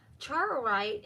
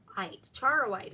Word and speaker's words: Charoite: So, Charorite, and it's a Charoite. I'm saying it wrong.